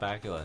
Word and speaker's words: Bakula: But Scott Bakula, his name rhymes with Dracula.